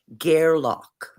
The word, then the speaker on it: Gairloch: Gairloch. I'm sorry, say it again. Gairloch.